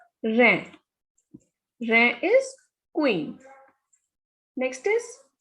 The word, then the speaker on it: reine: So it is E and I is A. Reine.